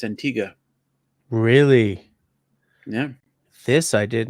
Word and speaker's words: Antigua: similarly Canadians call an island in the Caribbean Antigua Antigua qu but right you hear any of the locals pronounce it it's Antiga really yeah this I did not know Antiga okay I um I shall now because I'm